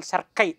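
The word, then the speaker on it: cerci: told you that anal cersei some people will pronounce it as anal circuit also no issue anil cersei 15 segmented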